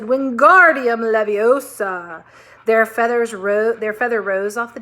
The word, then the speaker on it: Wingardium Leviosa: Wingardium Levioso, he shouted, waving his long arms like a windmill. You're saying it wrong, Harry heard Hermione snap. It's Wingardium Leviosa. Make the gar nice and long.